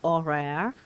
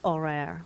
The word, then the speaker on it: horaire: like I get with a silent H in horaire, I have to use a T.